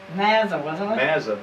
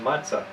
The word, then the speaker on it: Mazza: do you pronounce uh my name is Mazza but uh he said in Italy it's pronounced matzah so my grandfather came